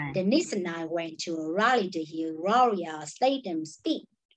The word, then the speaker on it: Raleigh: steinem speak no okay it's not rally raleigh rory rogers yes i'm